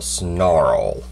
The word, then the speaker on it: Sonarl: Mech Fans Toys MF24 Snarl, S-O-N-A-R-L, Snarl. Yeah, that's how you pronounce that.